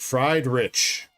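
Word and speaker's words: Friedrich: It's like a German spelling. Fried like fried rich. Fried rich. Like that.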